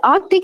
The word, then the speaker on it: Arctic: Arctic here not Arctic see there is a c there Arctic Arctic Arctic a